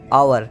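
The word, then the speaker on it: hour: second word है एच ओ यू आर यानि आवर ठीक है इसका मतलब होता है घंटा इसी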